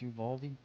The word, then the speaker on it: Uvalde: And then, by the way, guys, say your prayers for those people in, I don't know how to pronounce this. I think it's Uvalde, Texas.